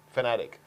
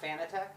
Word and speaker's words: Fanatec: it's um yeah so so yeah and it's pronounced fanatic not fitech well you know actually I don't care you